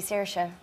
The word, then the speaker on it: Saoirse: Yeah, I don't think I actually pronounce my name the correct way. I say Saoirse. But a lot of people in Ireland say, no, it's actually Saoirse. I think you're saying that wrong. So I don't know. I'm going to say Saoirse.